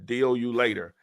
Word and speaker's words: Dealulator: Dealulator is spelled, it's a play on the word calculator. Remove the CALC and replace it with DEAL, ULATOR, Deal You Later.